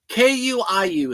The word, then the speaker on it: KUIU: KUIU is the way it's spelled.